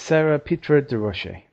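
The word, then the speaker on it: Sara Pitre-Durocher: Sarah Peter DeRoche. DeRoche. I think that's how you say it. It's Sarah Petra de Roche.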